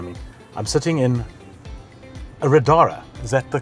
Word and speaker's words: Riddara: I'm sitting in a Riddara. Is that the correct way of pronouncing That's it? correct, yeah. And Riddara is the luxury brand from Geely, That's correct.